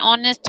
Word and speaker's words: honest: Yes, H is silent.